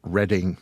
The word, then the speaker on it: Reading: from a place called Reading Pennsylvania that's spelled re e a d i n g that's like the reading Railroad in Monopoly no that's not the reading railroad reading now is a town of